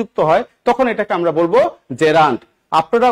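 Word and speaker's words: gerund: উচ্চারণ কি? জেরান্ট। নট জিন্।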